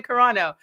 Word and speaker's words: Carano: Okay, Gina Carano.